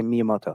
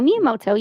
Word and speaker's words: Miyamoto: guerrilla thank you yamoto you just say miyamoto so the japanese is it is said phonetically so anytime you read japanese exactly how it looks is how you say it so miyamoto yes um as you had